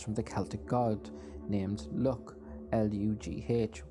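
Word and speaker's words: Lugh: The story varies from storyteller to storyteller, but some say his name comes from the Celtic god named Luc, L-U-G-H, which is pronounced L-U-C-K, Luc, which is where the leprechaun gained a reputation for being lucky.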